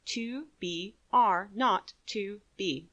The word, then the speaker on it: 2BR02B: The 0 in the telephone number he pronounced naught. The number was 2BR02B.